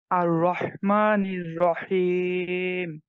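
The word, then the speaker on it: ٱلرَّحْمَٰنِ ٱلرَّحِيمِ: একটু কম শুনতে পাচ্ছি আর রহমানির রাহিম হার উচ্চারণটা আরেকটু সুন্দর করতে হবে ভাই হ্যাঁ হার যে মাখরাজ কন্ঠের মাঝখান থেকে এটা ঠিকঠাক টানতে হবে হ্যাঁ আবার আর রহমানির রাহিম হ্যাঁ মাশাআল্লাহ সুন্দর এরপরে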